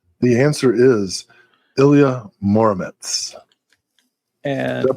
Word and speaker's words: Ilya Muromets: The answer is Ilya Muromets. And did I pronounce that right?